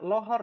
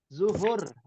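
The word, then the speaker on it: ظهر: hari itu zuh zuh jangan jawabnya lohor ya itu udah bahasa menyimpang lagi ah Sunda ya Sunda pisan ya lohor ya zuhur zuhur zru itu samaruhru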